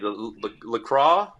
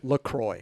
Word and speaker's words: Lacroix: go yeah what are you running these days Lucroy yeah I got that oh we actually found out to pronounce the the proper pronunciation what is it Troy Lacroix what does that mean I don't know they